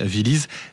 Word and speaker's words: Villyz: Voilà, ça s'écrit vilise V2 L y Z.